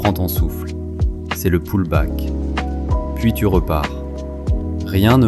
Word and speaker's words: pullback: Le pullback se prononce pullback, c'est le répit, le petit retour en arrière.